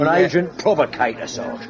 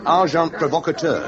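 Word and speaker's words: agent provocateur: And agent provocator. Amazing. Packar. The pronunciation however is arjant provocator.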